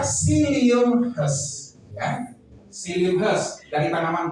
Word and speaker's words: psyllium husk: Jadi psyllium husk ini dibaca psyllium husk, ya, psyllium husk dari tanaman planta guavata.